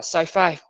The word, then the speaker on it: sci-fi: ta sẽ đọc là sci-fi, có nghĩa là khoa học viễn tưởng. Science fiction thì viết tắt chúng ta sẽ đọc là sci-fi, còn đọc rõ ra sẽ là science fiction, phim khoa học viễn tưởng.